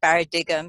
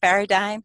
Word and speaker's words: paradigm: then and you know paradigm and he deliberately mispronounced it and said parity to him so I could correct it and say oh you mean paradigm so that was amazing and I've always respected